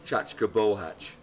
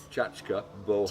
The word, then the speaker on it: Csacska Bohác: Can I pronounce that? So, say that again. I struggle with it. Csacska Bohác. Csacska Bohác.